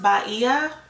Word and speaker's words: Bahia: So it's pronounced Bahia. She sounds way better when she says it, but that's how it's pronounced.